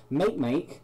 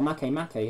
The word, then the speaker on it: Makemake: cause remember last episode make meek or Makemake however you want to pronounce it there's a lot further